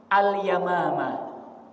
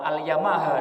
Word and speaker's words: al-Yamamah: Perang itulah yang kita sebut dengan perang al-yamamah. Perang alyamamah. Ini kalau bacanya dari jauh ngantuk-ngantuk dikit salah baca. Itu perang Alyamaha nanti ya.